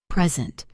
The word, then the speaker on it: present: Nouns usually have the stress on the first syllable and verbs on the second. Let's go through a few examples. Present. As a noun, a gift, it is present.